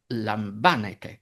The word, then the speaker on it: λαμβάνετε: But the plural imperative is λαμβάνετε, “take!”, and it obviously can’t be *λάμβανετε, since that would place the accent on the fourth-to-last syllable.